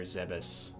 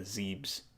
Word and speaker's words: Zebes: don't know if it's zebs or if it's pronounced zebs or zebus I hear I hear a lot of people pronounce it zevis but I always I always pronounced it as a zebs okay uh let's go